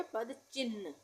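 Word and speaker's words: पदचिह्न: क्या है ह चिह आधा ह का उच्चारण हो रहा है और न पूरा ये यहां से इस तरह से बनाएंगे और ये न पूरा ठीक है तो ये हो गया पद चिह चिन्ह नहीं बोलते कभी भी चिन बोलते है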